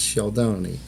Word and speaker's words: Scialdone: SCI is sh, and then E is silent, right? Like Capone and Stallone, but in Italian it's Scialdone.